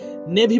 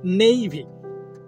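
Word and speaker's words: navy: ঠিক একইভাবে আর একটা শব্দ আছে যেটাকে আমরা নেভি বলি, বলি না যে নেভি ফোর্স, শব্দটা নেভি না নেইভি নেইভি নেইভি ফোর্স। ঠিক একইভাবে নেভি থেকে নেইভাল, শব্দটা নেভাল না নেইভাল নেইভাল একাডেমি।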